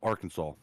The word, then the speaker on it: Arkansas: I don't like that Kansas is spelled the way it is and pronounced Kansas, but Arkansas has Kansas in it and it's pronounced Arkansas.